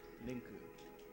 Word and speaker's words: Link: Would you call him Linku or Rinku? Linku. Exactly how you pronounce it. Can you do it again? Linku. It's between L and R.